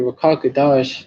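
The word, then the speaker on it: רוח הקודש: Rakakadash is how you say Holy Spirit in the Hebrew.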